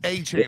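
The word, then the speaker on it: Achiuwa: A cane. It's A-Chain. I've heard 3 different pronunciations of his last name.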